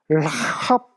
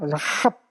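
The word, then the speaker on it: Ῥαχάβ: 에크테스 라 이게 피 발음이 아니라 이게 로라고 했죠. 대문자 로니까 라합 이렇게 아까 요 키도 ch 발음 난다고 했잖아요. 라합 이렇게 라합을 통해 에크테스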